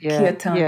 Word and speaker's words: Kirtan: Talk to me for a moment about the Learn to Lead Kirtan, I think you pronounce it? Kirtan.